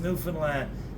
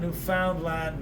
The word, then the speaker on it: Newfoundland: And it's pronounced Newfoundland, not Newfoundland, not Newfoundland.